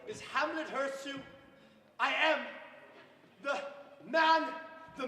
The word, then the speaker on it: Hamlet Hurtssue: to make Good sir, I ask that you pronounce my name correctly. My name is Hamlet Hurtssue.